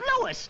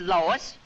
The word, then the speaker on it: Louis: the plant Lois Lois me name is Lis not Lois J W everybody in toates me name wrong it's Lis l o u i s Lois uh Louise Lucy